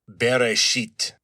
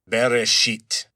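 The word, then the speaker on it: בראשית: and those are pronounced beresit beresit. So, not very pleasant. Sounds kind of like bury something unpleasant, but there it is.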